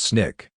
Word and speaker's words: SNCC: student non-violent Coordinating Committee SNCC pronounced Snick in the 1960s I